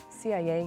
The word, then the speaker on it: CIA: that we always pronounce we usually pronounce these acronyms in English according to the letter we don't say la